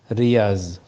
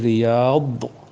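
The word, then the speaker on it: رياض: উর্দু উচ্চারণ, দাদের উচ্চারণ সাধারণত জ এ ধরনের করা হয়, যেমন নাকি রিয়াজ ফুল বাগান, সেখানে আরবি উচ্চারণ হচ্ছে রিয়াদ বদ, আর উর্দুতে উচ্চারণ করলে হবে রিয়াজ।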